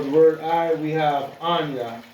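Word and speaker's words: אני: word I we have Anya that's how you will pronounce it you'll pronounce it as Anya and this is how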